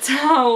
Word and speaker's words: towel: Well, how do you say the animal that's on your bag? Not that one, the other one. Owl. Owl. Owl. Towel.